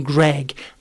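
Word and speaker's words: Greig: or two and joh and Ken pronounced his name U uh Ken said it was John sorry John he said John Greg and I said it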